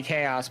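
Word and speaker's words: Khaos: to butcher this cuz his name is literally chaos but it's spelled weird.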